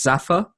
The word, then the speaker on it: Zafar: It was actually really good for media studies, and it just sounded, so Zafar, I would pronounce it as Zafar, and it's just a bit like Jaffa, so it's just ZafarCakes,